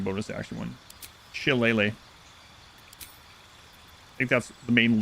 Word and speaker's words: Shillelagh: They also have Guidance, Poison Spray, Produce Flame, Resistance, Shillelagh. That's not how that's pronounced at all. Shillelagh. Her staff or club become magical. Shillelagh.